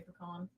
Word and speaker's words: pecan: We're gonna say peckin from now on. I think normally I just say pecan.